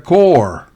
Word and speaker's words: corps: se pronuncia corps pero en la anterior se pronuncia Core creo que es de origen francés en Core